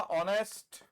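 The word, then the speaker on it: honest: हमने लिखा ऑनेस्ट। हां जी। हमने लिखा ऑनर। हमने लिखा आवर हमने लिखा ईर हमने लिखा ऑनरेरी इन सब में एच साइलेंट है ऑनेस्ट ऑनर ये ओ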